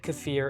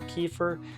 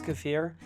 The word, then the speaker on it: kefir: and that's homemade cafir and yes I said cafir and not kefir because it's actually pronounced C like deer or beer not kefir and for those of you who might be asking what is cafir it's actually a very rich probiotic drink sometimes